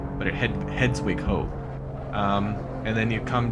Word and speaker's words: Hedwig: Hedwig is pronounced exactly like it is pronounced in Harry Potter, the name of the owl, Hedwig, but Hedwig Ho.